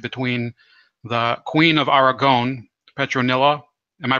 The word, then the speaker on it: Petronella: union by marriage between the queen of Aragon petronella am i pronouncing her name right where yes yes sorry